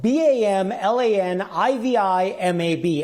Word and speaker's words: bamlanivimab: It's spelled BAMLANIVIMAB, and that's pronounced Bamlanivimab.